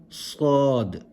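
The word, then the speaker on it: صاد: So you pronounce the letter as if your mouth is full. Sad.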